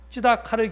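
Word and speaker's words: צְדָקָה: 여기 제가 히브리어 원어의 발음을 적어놨는데요, 미슈파트를 기대했는데 미스파흐가 웬 말이며 찌다카를 기대했는데 째아카가 웬 말이냐, 이렇게 지금 쓰고 있습니다.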